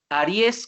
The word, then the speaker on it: Ariès: como felipe en francés ph philippe ariès como el signo zodiacal pero con acento en la philippe ariès sexualidades occidentales